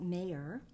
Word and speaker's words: Maher: So, Maher. It's pronounced Mayer, yes?